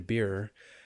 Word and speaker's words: Beer: to bring on dr beer and is that how you say your last name that is how i say my name all right perfect great